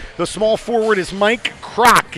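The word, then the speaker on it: Kragt: small forward is Mike crock it's k-r-a-g-t but pronounced like Ray Kroc 6-3 senior from Grandville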